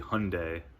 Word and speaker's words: Hyundai: It's really supposed to be Hyundai, at least in the US, that's what Hyundai said to pronounce it, see I can't even say it.